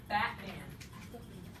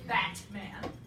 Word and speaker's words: Batman: it say it batman you don't say batman you say batman batman you never make the sound ever batman your tongue never comes up and hits the alveolar ridge there's no in there you spell it with a t because you know there should be a t sound in there but that's not how people really say it batman huh you're like